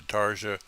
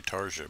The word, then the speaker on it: Tarja: well, I think it's actually Tarja, but I could be wrong. Or Tarnia. At any rate, The J is silent, by the way, there.